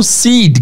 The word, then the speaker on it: seed: O seed, guys, se escreve S-E-E-D, seed. Aqui eu quero muito que vocês prestem atenção na pronúncia. Sempre que vocês encontrarem duas vogais em inglês juntas, seja I-I-E-E-E-A, a pronúncia vai ser de I longo.